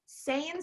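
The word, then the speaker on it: Seien: And Saiyan Style, you know, just one more thing about Saiyan Style, which is Anne Marie's company.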